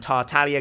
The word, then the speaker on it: Tartaglia: wonderful wonderful day and tartalia gang without the silent g or tartaglia gang peace out bye-bye